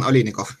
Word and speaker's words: Oliynykov: We have Charles Hoskinson and Oliynykov. Did I pronounce that correctly? Yes, Oliynykov.